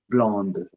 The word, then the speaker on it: blonde: Dans ce cas, then we pronounce D, blonde.